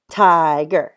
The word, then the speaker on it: tiger: and the first part it ends with the vowel it has a I so this I means the long sound I and you can